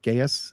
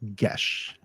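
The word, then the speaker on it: geas: probably pronounce it as gas gas if you pronounce it that way you're wrong it is actually a Celtic word and it's pronounced GES learn to speak the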